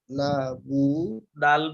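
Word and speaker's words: نَعْبُدُ: ইয়াকা না বুদু, আইনের উচ্চারণটা করবেন, এখানে ভুলটা এই এ আয়াতে এখানেই হয়। এই না আবুদুর উচ্চারণটা আমাদের উচ্চারণ করতে সমস্যা হয়।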